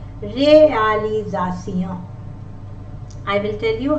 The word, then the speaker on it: réalisation: And if the letter S is in the middle of vowels, it sounds like Z. I will tell you, like this is S, as in English we say realization. In French also, réalisation.